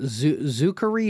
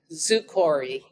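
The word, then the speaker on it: zoochory: Because I didn't know how to pronounce it. Zukori, Zuokori? Zukori, yeah.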